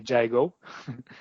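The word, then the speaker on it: Gygo: product name is gigo I spell it g y g o like gyro only gigo and the idea is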